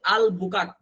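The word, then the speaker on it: Albuquerque: এখানে আর এর উচ্চারণ হচ্ছে না। এই যে আর এর উচ্চারণ হয় না।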